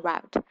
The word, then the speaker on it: route: or it's wait I when I say root I mean r u r o u t e as in route if you pronounce it as route I don't know we just call it root here so you're asking someone